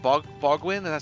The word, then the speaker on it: Bogwin: Is it Bogwin? Is it 3 syllables? brawl like brawl Right. like the punching thing brawling. Bogwin.